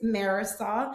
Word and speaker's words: Marisol: Um so, like Melissa said, my name is Marisol. For those people that can't pronounce and roll their Rs, it's Marisol.